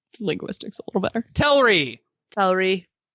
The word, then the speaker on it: Telrii: Telrai. Telrii. Telrai. Telrai. Don't no diphthongs. I hate double I pronunciation so much.